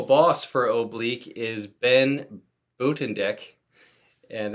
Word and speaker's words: Buitendijk: is Ben Buitendijk, and that's a Dutch name, and if you actually saw the pronunciation of it, I'll put it down below, you would recognize it probably the way that I'm saying it.